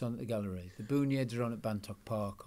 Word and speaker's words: Boonyeds: And so Boonyeds, is that, I'm pronouncing that correctly? Yeah, Boonyeds, yeah.